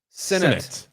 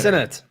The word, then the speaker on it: Sinnott: Sinnott. Like All right. Sinnott. Okay. Like Cinnabon.